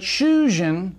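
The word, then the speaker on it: 囚人: Shujin, husband, has a short U vowel, but Shujin, prisoner, has a long U vowel.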